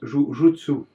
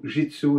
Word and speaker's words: jutsu: Vous avez remarqué que je prononce jutsu, puis c'est pas une faute de langage, bien que jitsu est plus utilisé. À l'époque de Kano, on disait plus jutsu.